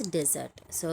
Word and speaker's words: deserts: It is called as desert. So here arid land is a desert. People who get what they deserve are getting their deserts. So here the asset is one is on the second syllable.